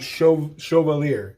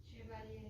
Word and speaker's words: Chouxvalier: Okay, it's pronounced Chouxvalier. Well, that's the English, how to pronounce it. My wife pronounced it a different. How do you pronounce it? Chevalier. Chevalier. Okay.